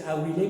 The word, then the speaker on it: Awilé: Et en araméen, ceux qui pleurent se dit « Awilé », prononcé Awilé, même si ça s'écrit A-B-I-L-E.